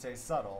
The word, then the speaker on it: subtle: When you pronounce subtle, you say subtle.